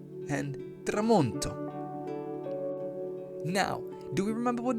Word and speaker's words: tramonto: Si dice tramonto. Si scrive T-R-A-M-O-N-T-O.